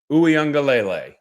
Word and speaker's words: Uiagalelei: been trying to uh figure out how to say the name it's DJ U angele now I will from